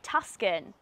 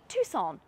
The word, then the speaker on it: Tucson: be reviewing the hyundai tuscan what do you mean it's not tuscan the sea's in another place oh okay so it's the tuxon you don't pronounce a c okay so it's the tucson oh god that is